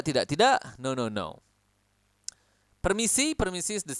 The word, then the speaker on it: permisi: you can also use permisi permisi Oke permisi eh remember to roll your R Permisi Excuse me oke